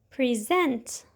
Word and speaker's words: present: to give or show you need to remember that most two syllable nouns are stressed on the first syllable and most two syllable verbs are stressed on the second syllable like present okay I know what